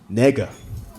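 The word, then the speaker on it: 那个: In Mandarin, it's pronounced nigga. Yeah, sounds just like the N-word.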